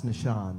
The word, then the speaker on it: Nashawn: you uh greetings everyone my name is pronounce Nashawn the originally from Syracuse New